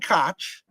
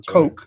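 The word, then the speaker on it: Koch: HK mp5 right the Heckler and cotch or Coke depending on how you want to pronounce that MP5 you have the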